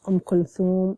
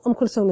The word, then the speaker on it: Kulthum: But, so Kulthum is Egyptian. Egyptians would usually say Kulthum. So there's no th, there's a se, sound instead.